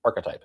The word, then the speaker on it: archetype: Apparently, I learned that I say archetype wrong. It's archetype. It's 3 syllables.